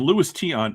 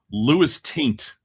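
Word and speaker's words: Luis Tiant: and his card comes up and Louisis Tion is pronounced by Jeff Wilson as Lewis Taint.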